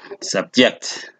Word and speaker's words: subject: For instance, in this case, you have subject, and this is a noun. Sometimes the syllable could be on the second syllable, as in subject, and that makes the word a verb.